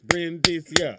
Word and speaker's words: Brindisia: You have to pronounce the Brin and then. Brimstone I had to break it up and I had to do this. Brindisia.